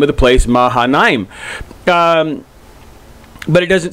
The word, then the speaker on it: Mahanaim: And or Mahanaim, but it's AI, at least whenever the transliteration or in the translation, that's generally pronounced as an I, kind of an elongated I, Mahanaim.